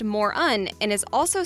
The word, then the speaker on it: Mörön: It is pronounced Moron and is also spelled M-U-R-U-N.